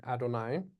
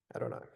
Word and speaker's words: Adonai: So anytime you come across that word, a Jew is going to say Adonai.